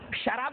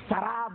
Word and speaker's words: سراب: میراج میں سراب، اس کو بعض لوگ سراب پڑھتے، غلط ہے وہ. قرآن حکیم نے جو تلفظ بیان کیا، جو پروننسیشن وہی صحیح پروننسیشن ہے. سراب، شراب نہیں، سراب.